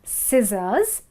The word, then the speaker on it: scissors: Then it's scissors, again C is silent.